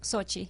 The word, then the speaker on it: Sochi: problems with the Olympics happening in is it Sochi? Is that how you say it? Sochi.